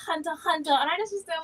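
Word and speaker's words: Hunter x Hunter: pronounce pronounce the x it's just called hunter hunter and i just thought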